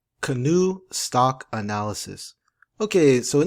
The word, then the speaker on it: Canoo: out there uh the the name is called canoe so it's CA n o o another felet uh two syllable um company and their